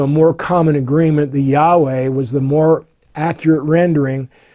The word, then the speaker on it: Yahweh: the four Hebrew consonants, usually pronounced as Yahweh.